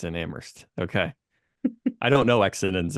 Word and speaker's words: Amherst: I hope so too I silent I think yeah I tended to pronounce the h as like a Midwestern or Amhurst but I don't think I think it's silent it's just indm exms